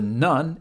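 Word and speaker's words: ぬ: Nu is pronounced like nu in noodle.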